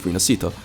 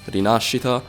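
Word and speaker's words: Rinascita: Italian inspired region of rasita which in Italian means rebirth and is actually pronounced rachita but I'll spare you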